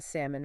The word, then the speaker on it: salmon: Um, the listener, Silent But Deadly, said that they pronounced the L in salmon for years. Oh, wow. Which I feel like a lot of people probably do at some point in their life. It makes sense, right? Yeah. Salmon almost looks like it should be pronounced that way.